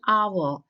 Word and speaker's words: hour: now and with the noun starting with silent h so i'll say an hour so that's why i'm